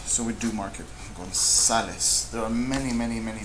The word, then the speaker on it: González: Look at this word here, González, González, González is grave. Does it end with a vowel? So we don't do this, so we do mark it, González.